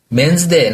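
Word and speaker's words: メンズデー: 네, 발음이 데이를 D라고 발음을 합니다.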